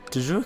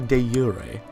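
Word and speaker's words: de jure: me i've i've got du jour claims oh no it's actually de urey apparently because it's latin and that's how it's pronounced don't ask me why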